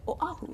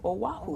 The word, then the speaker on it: Oahu: live on Oahu, is to make sure we pronounce it Oahu. Oahu. Yeah, right. I had to change my way because every time, just because I'm a pidgin speaker first, right, I would use the W, Oahu.